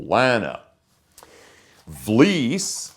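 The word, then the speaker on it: Vlies: in the Fest tool l v is pronounced like fleece it's a thck material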